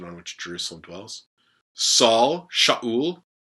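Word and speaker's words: שאול: Saul, Shaul, Shaul. It's a sheen. The kametz, the aleph is silent, and then a shurik and a lamed, Shaul.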